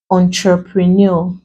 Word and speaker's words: entrepreneur: Another example, we have entrepreneur. You break two syllables, and since we're stressing the last, this becomes capital letters.